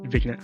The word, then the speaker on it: vignette: Vignette, how do you how do you pronounce that?